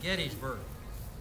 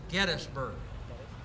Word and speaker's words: Gettysburg: people that are forign if you say Gettysburg we know you ain't from here the locals pronounce it gettsburg let you in on